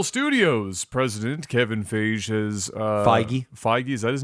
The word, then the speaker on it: Feige: Marvel Studios president Kevin Feige has Feige. Feige, is that his name? Yep. Wow, that is the last pronunciation I would have guessed for that name.